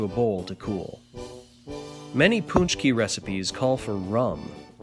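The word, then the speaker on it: pączki: P a c c k i but it's pronounced paczki or sometimes you hear ponch key so that's how you say it but there's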